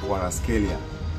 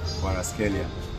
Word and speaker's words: Kvaratskhelia: normally the name is pronounced as Kwaraskelia. Kwaraskelia.